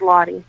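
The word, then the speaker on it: Lottie: name Josie or something else first name is lah can you spell it for me l o TT i e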